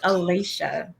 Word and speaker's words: Alasha: You did pronounce that properly. It is Alasha.